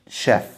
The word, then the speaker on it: chef: في واحد يقول لي ممكن ليه CH في chef ما تنطقتش chef. هقول لك إن القاعدة بتقول CH بتتنطق تش ما عدا كلمة chef. يبقى دي الكلمة الوحيدة اللي exception للموضوع ده.